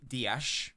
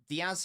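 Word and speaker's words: Díaz: Diaz is correct. Dash is also correct.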